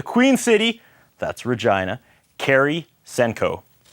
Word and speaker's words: Senkow: your last name correct I pronounced it correctly Senko not Samko talking before we started